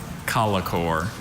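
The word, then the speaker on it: collochore: Alternate pronunciations. Just the one. Colicore.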